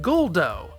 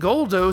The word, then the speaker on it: Guldo: And remember that what we romanize as a Japanese r can be adapted into an English r or l, and they went with l. So they call him Guldo.